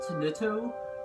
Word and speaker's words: Tenuto: I pronounce it Tenuto, or Tenuto. The game also pronounces it like that, so I'm going to pronounce it like that.